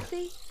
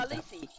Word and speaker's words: Khaleesi: How do you pronounce that? landlord. Kalasi? Oh, Khaleesi? I don't know. How do you? Khaleesi.